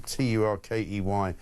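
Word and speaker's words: Türkiye: I know that Turkey changed their spelling of their country from Turkey to Turkiye, but it's still pronounced Turkey.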